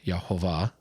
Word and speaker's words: Yahweh: And so we talked about the word that's used there in Psalm 23 is Yahweh, which again, how Hebrew works, that word is also sometimes pronounced Yahovah.